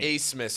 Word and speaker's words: Abmas: Acemus. It's spelled Abmas, but it's pronounced Acemus. Acemas. I don't know why, but that's how it's pronounced.